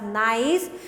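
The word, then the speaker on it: gneiss: type of मेटमोरफिक rock is नाइस सो we pronounced it एज नाइस इट is formed from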